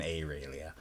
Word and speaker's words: Aurelia: It's pronounced and spoken Aurelia.